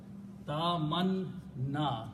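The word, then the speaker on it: تَمَنَّى: Ta man na is 2 shaddas here, right? 1 shadda 2 times. So harakat will be ta manna.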